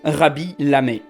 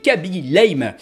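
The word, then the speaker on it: Khaby Lame: Oui, on est dans ce genre de cas où le KH se prononce R. Mais je suis sûr que comme moi, pas mal de gens l'ont appelé Kaby Lame.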